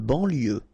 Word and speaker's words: banlieue: De banlieue. Okay, final E not pronounced, so I-E-U, I-E, L, lieu, banlieue, de banlieue.